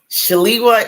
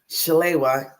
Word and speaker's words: Shalewa: shalwa shal yes so there's two ways to pronounce it shalwa is the African-American way Chala is the Nigerian way so my name is